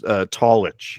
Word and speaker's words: Tallitsch: Is that how you pronounce it? Yeah, that's remarkably close. Tallitsch, yeah.